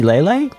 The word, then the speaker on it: Leyley: and Ley, which well, I learned recently that it's supposed to be Lelay.